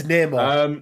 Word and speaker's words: Namor: It's Namor. It's Namor, by the way.